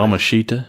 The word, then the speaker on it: Yamashita: Yamashita?